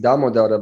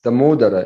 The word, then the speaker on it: Damodara: Coming to this name Damodara, because in the West we are always pronouncing Damodara, but it's Damodara, isn't it? Damodara, yeah. Because the O is always a long vowel, or? Well, O is a long vowel. The first A is also long.